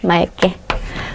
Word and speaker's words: 맑게: 거예요 상상해 보세요 요나가 막게 자신 이해 바보 같죠 그거 아니에요 예요 때는요 기억으로 시작하는 어미가 올 경우에는 그때는 뭘로 바로 한다는게 약속이 있냐면 리얼이에요 리을 맑고 맑게 그래서 의문 환경 어떤